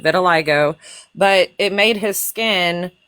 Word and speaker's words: vitiligo: Vitiligo. I was even pronouncing it wrong last night. Vitiligo, but it made his skin turn white.